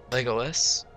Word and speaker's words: Legolas: It has Legolas, Legolas. That's how you pronounce it.